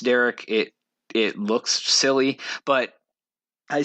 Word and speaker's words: Dereck: It's spelled Dereck. So I don't know. I'm sure it's pronounced Derek.